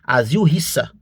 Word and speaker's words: Asil Resa: O mais correto, a pronúncia mais correta, tá? Seria asil risa, a a pronúncia mais correta.